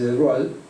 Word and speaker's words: de Broglie: francés Louis de Broglie, se escribe de Broglie, pero se dice de Broglie, que era príncipe, el